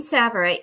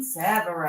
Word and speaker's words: Tsavorite: And we're going to get green Tsavorite.